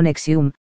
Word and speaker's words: NXIVM: estadounidenses por su relación con psib pronunciado nexium a la que las